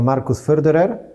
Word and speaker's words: Markus Förderer: Our guest is cinematographer Markus Förderer. Hello. Hello. Hi. I hope you pronounced your name right. Very good. You're the first one who got it right.